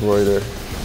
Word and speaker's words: Reuter: Rue, even though my last name is pronounced Reuter, but they just think it's pronounced Reuter, so I guess we're going with that nickname.